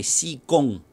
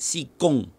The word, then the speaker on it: si gong: old-school british so so the k thing is actually a british-ism all right and the problem with that all right besides the fact that it's literally a g sound not a k sound so it's already inaccurate